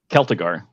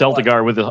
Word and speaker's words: Celtigar: Just Celtigar. Celtic it's just Celtigar with a hard C.